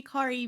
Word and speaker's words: Kari: Yeah, I was actually about to say, one day you'll say my name right. It's Kari. It's Kari.